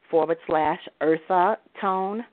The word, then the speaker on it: Eartha Tone: that's spelled T-O, / Eartha Tone. Like Earth Tone, but it's Eartha Tone because my name is Eartha.